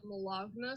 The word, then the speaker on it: Malagna: I still am on Instagram as Malagna, spelled like baloney, but with an M and a 0.